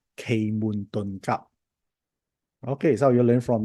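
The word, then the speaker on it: 奇門遁甲: Type the word me if you heard about a system called Qi Men Dunjia. in Cantonese is pronounced as Kei Mun Ton Kap.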